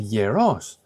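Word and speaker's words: γερός: These are two words that are written the same, but the tone, the stress is on a different syllable.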